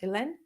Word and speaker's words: Helene: Phonetically is Helene, but my name is pronounced Ellen. Again, I'm Ellen, and I am so excited to get to talk to you today.